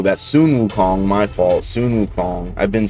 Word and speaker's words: Sun Wukong: He's let me know I've been saying the name wrong. So sometimes the westerner come out at me and say son Wukong still but I mean Sunun Wukong.